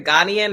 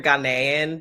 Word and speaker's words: Ghanaian: It's either Ghanaian or Ghanaian, depends on who you ask. But yeah. Ghanaian.